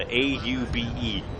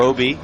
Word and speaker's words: Aube: It's pronounced Obie, even though it's spelled Aube, A-U-B-E. And I'm being honest with you, it's not honest Aube. Not my best, as that one swung on and missed. It's 0-1. Obie like Obi-Wan Kenobi.